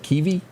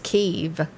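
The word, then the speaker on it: Kyiv: to pronounce it wrong you pronounce it kivy how do you do that k-y-i-v i think it's keeve keef okay and i'm not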